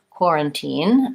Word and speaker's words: quarantine: timely given our situation quarantine and so in this word we have first syllable stress quarantine so the core part is longer and then we have